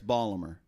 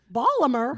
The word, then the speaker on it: Baltimore: Now we pronounce it Baltimore, but up there it's Balmer. Balmer.